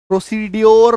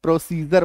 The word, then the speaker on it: procedure: प्रोसीजर, प्रोसीड्योर नहीं बोलेंगे, प्रोसीजर बोलेंगे।